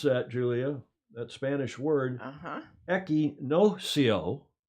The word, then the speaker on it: Equinoccio: Equinoccio. It's not like Pinocchio. Equinoccio is how you pronounce that in Spanish, or at least in South American Spanish.